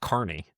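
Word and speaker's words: Kearney: But it's it's pronounced Carney.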